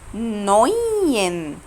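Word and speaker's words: neun: يبقى الاي او الاي او بيتنطقوا اوي. اوي اوي بيتنطقوا اوي. طيب تعالي نشوف مع بعض بايشبيل وركزوا فيها قوي دي. ركزوا كده. اول بايشبيل معانا نوين. نوين. خدتوا بالكم انا نطقت اوي ازاي؟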